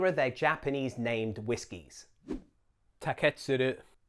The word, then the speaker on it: Taketsuru: Taketsuru. If you are going to put the stress anywhere, put it on the first or second syllables to avoid the tendency to say Taketsuru.